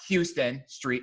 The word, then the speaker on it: Houston Street: it Houston no it's not Houston Street it's Houston in New York if you are in Houston and you are in Texas they were saying that because